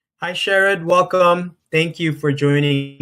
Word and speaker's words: Sherrod: There's a senator named Sherrod Brown, but he pronounces his name Sherrod, I think, too. So I generally pronounce mine Sherrod, but a lot of people, make that assumption and that based on how it's spelled.